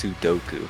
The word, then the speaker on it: Sudoku: It's Sudoku.